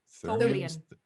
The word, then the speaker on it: Tholian: Yes, I would also like to share with him the what we discovered with it being, how do you pronounce those people? Tholian.